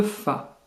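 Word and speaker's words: ف: Le fa, c'est un F français, prononcé fa, fi, fou.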